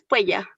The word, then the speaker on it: puella: Puella, ¿qué es puella? Puela, me debes un chocolate. Se pronuncian las dos consonantes. Las dos consonantes por separado.